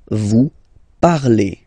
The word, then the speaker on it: parlez: Remember, z, when you combine them together, you get the sound e. Vous parlez, all right?